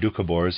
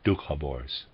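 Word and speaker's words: Dukhobors: served close quote the dukhabores perished readers aside dukabors on attempting that pronunciation is spelled d u k h o b o r s dukhabors and the readers aside but all those who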